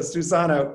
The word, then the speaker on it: Susanna: fluent in spanish and her name is pronounced like the phrase seuss anna so susanna welcome we're so happy